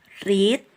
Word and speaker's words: read: Tulisannya sama dengan bentuk pertama, read, tapi membacanya kalau bentuk ketiga itu membacanya adalah read, like this.